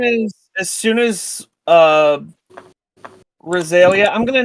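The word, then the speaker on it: Rhyzalia: uh Roselia I'm gonna name him her Roselia now because that sounds cooler as soon I like it's a pretty name it's a good as soon it's true that's why I recognize it um it's spelled RH y z a l i a though soili you're spelled RH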